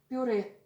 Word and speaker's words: пюре: Это Это пюре. А вот пицца. Это puree. Mashed potatoes is puree. We do not palatalize r in this word.